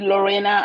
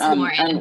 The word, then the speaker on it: Lauren: I was with Eva and is it Lorena? I don't like pronouncing people's name the wrong way. It's Lauren, that's perfect. Lauren, yeah.